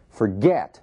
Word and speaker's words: forget: Forget, mesmo caso. Forget, a sílaba tônica é o get.